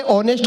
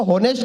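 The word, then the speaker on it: honest: ये बोला ये ऑनेस्ट को होनेस्ट कहता है, ऑनर को होनर कहता है, इसे समझाओ इसमें एस साइलेंट होता है।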